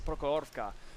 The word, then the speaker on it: Prokhorovka: You know, I bet Soviet's watching and he's thinking, no, Clutch, it's Prokhorka. And to me, it kind of sounds the same, but how you pronounce it is important.